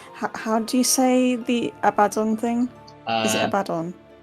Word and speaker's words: Abaddon: Is it Abaddon? It's... let me try and type it out phonetically. Thank you. Abaddon.